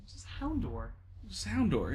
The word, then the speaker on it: Houndour: Every time they said Houndour, I'm like, just Houndour. Just Houndour. It's Like Hound.